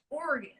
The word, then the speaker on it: Oregon: Oregon. Oregon. Like your internal organs, but with a little extra.